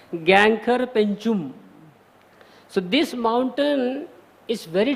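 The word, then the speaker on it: Gangkhar Puensum: Pronunciation भी देख लिया मैंने उसमें कैसा है. Gangkhar Penchum.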